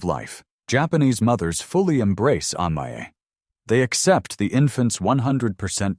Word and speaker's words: amae: It pronounced amae, it is a notoriously difficult word to translate into English.